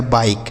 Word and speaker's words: बाइक: जाता है, लिखा गया बाइक, ठीक है, बाइक। और किसी शब्द के लास्ट में अगर ई होता है दोस्तों तो उसका उच्चारण नहीं करना होता, हमने पिछली वीडियो में आपको सिखाया था।